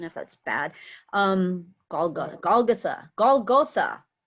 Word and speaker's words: Golgotha: His latest publication is the chapbook Hot Rod Golgotha, and please correct my pronunciation if that's bad. Golgotha. Say it. Golgotha, you had it right.